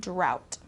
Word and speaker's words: drought: in the area Okay so this o u ght uh sound is complicated for some people it's just um it turns into a a t- sound drought okay rural rural means